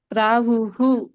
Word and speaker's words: ಪ್ರಾಹುಃ: ಅಲ್ಲಿ ಇನ್ನೊಂದು ಹೂ ಯಾಕೆ ಬಂತು ಅಂದ್ರೆ ಅಲ್ಲಿ ವಿಸರ್ಗ ಇದೆಯಲ್ಲ ಎಂಡಿಗೆ. ಸೊ ಹಿಂದಿನ ಒಂದು ಪದ ಏನಿರುತ್ತೋ ಅದರ ಆಧಾರದ ಮೇಲೆ ಮುಂದಿನ ಒಂದು ವಿಸರ್ಗದ ಉಚ್ಚಾರಣೆ ಆಗುತ್ತೆ. ಸೊ ಹೂ ಇರೋ ಕಾರಣ ಅಲ್ಲಿ ಕೂಡ ಹೂ ಆಗುತ್ತೆ. ಪ್ರಾಹುಹು.